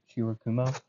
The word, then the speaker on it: Shirokumo: Shirokumo, that's how you say his name.